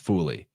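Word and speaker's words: Faouly: too dr l fully they specifically say his name is pronounced fully so i happen to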